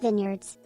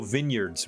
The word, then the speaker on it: vineyards: It's pronounced vineyards. Oh, vineyards, right. Like Martha Vineyard.